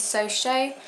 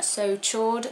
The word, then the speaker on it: So Chaud: the next one is so show a lot of people call this one so chord because of how it's spelt but it is french so technically it's pronounced so show i still call it